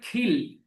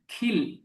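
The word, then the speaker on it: kill: করা এখানে হচ্ছে আমরা সাধারণভাবে ক এর উচ্চারণ করি কিন্তু ব্রিটিশরা উচ্চারণ করে খিল খিল খিল হ্যা খিল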